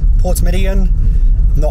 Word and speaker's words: Portmeirion: But yeah, just driving through the Welsh countryside now on our way to Porthmeirion, or Porthmeirion, Portmeirion. I will check this pronunciation when I get a chance, guys.